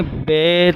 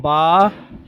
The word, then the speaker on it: با: ہوتی ہیں، آپ دیکھیں، حروف مفردات کو تجوید و قرات کے مطابق عربی لہجے میں ادا کریں اور تلفظ کے ساتھ پرہیز کریں، یعنی بے، تے، سے، ہے، کھے، توئیں، وائیں وغیرہ ہرگز نہ پڑھیں، بلکہ با، تا، سا، حا، خو، تو، ضواں پڑھیں۔ اب ان 29 حروف میں